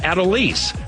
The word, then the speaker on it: Adolis: I think his first name's pronounced Adolis.